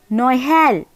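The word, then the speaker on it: Noël: So, we have to separate No separately, Earl separately. So, it is Noel.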